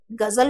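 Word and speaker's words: ग़ज़ल: क्या उच्चारण सही हो रहा है? गजल, गजल नहीं हो रहा है। तो अब आप इसको सही उच्चारण जैसा उसमें हुआ था वैसे ही अगर उच्चारण करना है तो क्या लगाएंगे, ग के नीचे नुक्ता लगा दिए और ज के नीचे नुक्ता लगा दो तो क्या हो जाएगा, ये गजल, गजल हो गया।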